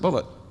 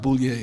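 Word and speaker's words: Bulliet: He spells his name B-U-L-L-I-E-T, and he pronounced it Bullitt. He corrected me. He said, no, my name's not Boulier, it's Bullitt.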